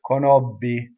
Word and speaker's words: conobbi: have kono B so you have to bees you have one end and everything is closed so the stressed vowel in this word is closed right queneau B we as Americans we are champions at BB right Italians can hardly hear the difference single B BB the reason is you don't stop phonation and BB say Kenobi right not cannot be I